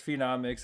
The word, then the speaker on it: Phenomix: You You pronounce my channel name Pheno Phenomix or Phenomix. Yeah, I think a lot of people say it like that, too. Yeah, it's phenomics is how it was meant to be pronounced.